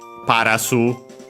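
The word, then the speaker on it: パラス: Of course, in Japanese, unlike in English, Paras, we have to add the vowel U because the S, most consonants can stay on their own.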